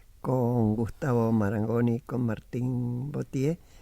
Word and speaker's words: Vauthier: Botier. Pocas veces te deben pronunciar así el apellido. Así es un lujo. Muy bien. ¿Qué dirían? Bautiers.